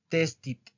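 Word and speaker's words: tested: prueba o ensayo y para pronunciarlo en pasado testit testit testit testit Okay tes ahora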